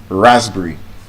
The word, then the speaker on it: raspberry: The same way with this word, raspberry. Raspberry. R-A-S-P B-E-R-R-Y. It's not raspberry. Raspberry. Raspberry. Strawberry.